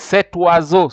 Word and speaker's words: cet oiseau: is a vowel, and whenever O and an I meets, remember I told you the pronounces, it becomes wa. And since you have to join, you have to say cet oiseau.